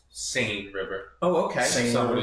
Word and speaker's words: Seine: Well, first off, the river's pronounced Seine River.